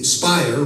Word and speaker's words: Speier: SWA well you know Jackie Speier rhymes with liar they were allowed to